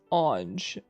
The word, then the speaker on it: Ange: an on is nasal and the G sounds like J. Okay, so it's Ange? Okay, there's two ways. Oh, it can be pronounced Ange like the eng in engine? I'm getting so many answers. And the J sounds like the J in jump.